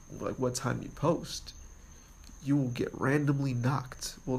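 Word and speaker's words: Noq: the new one Armada knock that's n o Q and the knock this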